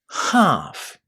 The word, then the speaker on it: half: But there is a silent letter here. Which one is it? The L. We don't say L in the word. How would you say it? Half. Half. A nice long a sound inside this word half.